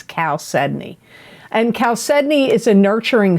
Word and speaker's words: chalcedony: that cancer got and you got chalcedony and that's spelled c h a l c e d o n y c h a l c e d o